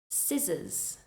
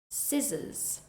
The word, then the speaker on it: scissors: word more correctly now let's look at words with a silent c first we have muscle muscle scen scen scissors scissors Ascend Ascend as with the words before all of these words have a c in the spelling but you do not pronounce it next we have a